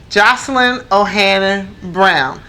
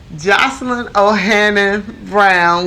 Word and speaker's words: Joselyn O'Hannon-Brown: We're back, and we are talking with Joselyn O'Hannon-Brown. Yes, I said it right this time, because in the beginning I said it wrong. Joselyn O'Hannon-Brown.